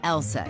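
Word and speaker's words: LSEG: be a bit misleading take ours for instance pronounced Elsa AKA London Stock Exchange group sure we're in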